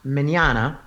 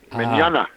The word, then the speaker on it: Mignogna: My last name is pronounced Mignogna. Mignogna. Almost like Mignogna, the morning, like see you tomorrow? tomorrow. And it's like, Yes. Yeah, okay. Yes. It's Italian, but it's pronounced like mañana.